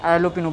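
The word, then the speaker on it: jalapeño: फिर उसके बाद जैलोपिनो जाएगा, इसे हम जैलोपिनो एलोपिनो बोलते हैं, जे साइलेंट में रहता है।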